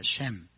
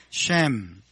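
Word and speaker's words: שם: 쉔. 해볼까요? 쉔.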